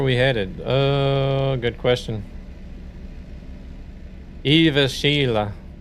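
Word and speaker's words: Jyväskylä: That a is is pronounced like air.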